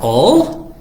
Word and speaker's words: all: Es la palabra all, A-L-L, si alguien la quiere escribir en los comentarios. All es un sonido un poquito más cerrado, no es una A, sino una O, pero se escribe A-L-L, all, que quiere decir todos o todas.